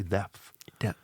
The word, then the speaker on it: depth: I find it hard to say depth. Depth. Like that's a tricky one. You pronounce the TH? Depth. Yeah, I think you do. Yeah. Because or else it sounds like you're in depth. Yeah.